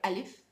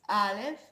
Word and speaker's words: Aleph: Now Aleph, it's not like Alif, it's Aleph, and I want you also to concentrate on the differences between the languages and learn them separated.